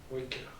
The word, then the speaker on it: Wecker: Neuvième, Waker. W-E-C-K-E-R. Waker. Et alors, je vais... Normalement, la façon dont je prononce, ça devrait un peu aider.